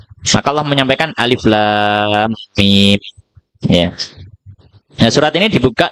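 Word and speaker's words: الم: Bacanya enggak dibaca alam gitu ya. Ini baca alam bukan, tapi dibaca satu persatu. Makanya disebut muqataah. Muqatah itu terpisah-pisah. Jadi alif sendiri, lam sendiri, mim sendiri. Ya.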